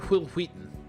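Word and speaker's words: Wil Wheaton: I do know Will Wheaton. Will Wheaton from Star Trek. And I know that you pronounce his name as Will Wheaton.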